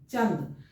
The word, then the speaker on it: चंद: चूंकि न है ये, उच्चारण करके भी आप देखिए, चंद, च न तब द बोलते हैं, चंद।